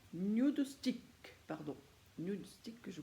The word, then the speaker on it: Nudestix: une marque est arrivé en france qui s'appelle nude x1 nude stick pardon mystique que je prononce bien ça se présente dans décédé alors